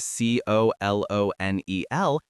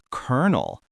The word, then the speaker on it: colonel: Every single letter in the word c o l o n e l is a lie. This word often used to refer to a military rank or a specific type of fried chicken mogul is pronounced kernel. It sounds exactly like the word kernel, as in a kernel of corn.